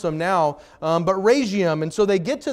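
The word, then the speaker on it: Rhegium: city right here who wants to try and pronounce it Rion okay that's the official pronunciation I wanted to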